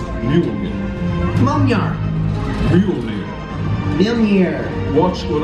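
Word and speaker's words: Mjölnir: It's pronounced Mjolnir.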